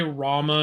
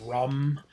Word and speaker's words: Rama: And the reason I still say Rama instead of Rum is because both versions are actually accurate. It just depends what part of India you're in. And I would rather say Rama because that's literally how it's spelled.